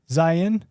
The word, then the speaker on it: Zion: Zion? First one. Zion?